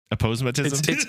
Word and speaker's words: aposematism: to notice them um and it's also aosm aposematism Ash how do you pronounce that you got it aposematism it's an aposematism uh Ash explain what aposematism